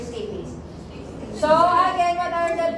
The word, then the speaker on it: stapes: So, stapes or your stape pala, kamala kung paano nila sa yan. Pero para sa mag-pronounce yan is your stapes.